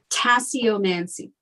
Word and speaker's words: tasseomancy: do a little research about how do you pronounce it? Tessomancy? Tasseomancy.